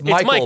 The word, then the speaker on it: Mikkel: absolutely and also it is pronounced it's it's Michael but it's spelled m i k- l m K yeah